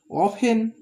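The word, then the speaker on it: often: অফেন, এর উচ্চারণ কিন্তু দেখো এখানে টি এর উচ্চারণ হচ্ছে না, এই টি এর উচ্চারণ হচ্ছে না।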